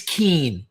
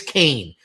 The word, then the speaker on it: Kane: And like five people in the comment section on YouTube were like, "It's Keen." And I was like, "I know it looks like Keen, but trust me, it's Kane."